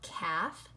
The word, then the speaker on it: calf: okay very good so remember a word like half or calf it has the L in it but the L is silent so it says all right